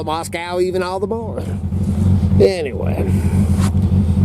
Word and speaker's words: Moscow: And then when people correct me and tell me, hey, it's Moscow, not Moscow, then that just makes me want to call it Moscow even all the more.